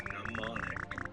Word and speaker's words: mnemonic: Mnemonic has a silent M.